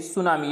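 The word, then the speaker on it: tsunami: सुनामी की, सुनामी यानी यहाँ सुनामी है, तो इसमें जो राइट जो स्पेलिंग है यानी वो है यानी सुनामी, यानी जो टी लगा है, टी साइलेंट रहता है, तो ऑप्शन डी इज करेक्ट।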